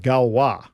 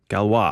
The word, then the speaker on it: Galois: okay DARPA has contracted with a company called Galois Galois and it's spelled G al o is okay French mathematician